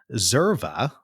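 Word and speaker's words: Xerva: And you created a company called Zerva, but spelled with an X, which is sort of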